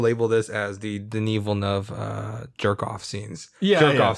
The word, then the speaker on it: Villeneuve: Because it's just supposed to be like two syllable Villeneuve. Villeneuve.